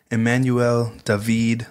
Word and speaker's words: Immanuel David: of Emanuel Dave well here's how he pronounced it Emanuel dahveed Isaiah is a book that